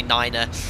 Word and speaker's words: niner: experiences from real life you're quite right you know they're pronounced just to make them clearer so I generally say 3 but I do say Niner so it's just the